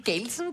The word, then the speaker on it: Gelsen: Die Gelsen bei den Festspielen... Gößen ja, heißt es bei uns. Gößen. Also das waren dann... Also muss schon richtig ausgesprochen werden.